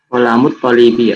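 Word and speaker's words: قلم الطالب: Kolamul talibi ini salah ya. Silakan cari jawaban yang lain. Kalau al-talibi ini qamariyah maksudnya ya. Sedangkan ko ini huruf syamsiah. Silakan. Jadi cara membacanya gimana? Kolamut talibi ya. Kolamut talibi, mumtaz, Masya Allah. Ya, itu adalah jawaban yang sesuai. Aslinya al-qalamu al-talibi ya tulisannya. Tetapi yang betul adalah qalamut talibi.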